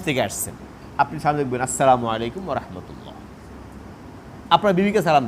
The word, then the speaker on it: আসসালামু আলাইকুম: শুদ্ধ ভাষায়, শুদ্ধ ভাষায়, শুদ্ধ উচ্চারণে, স্পষ্ট করে আওয়াজ করে শুনি মতো সালাম দিব। আসসালামু আলাইকুম ওয়া রাহমাতুল্লাহ, সালাম আলাইকুম, সালাম আলাইকুম, এরকম না।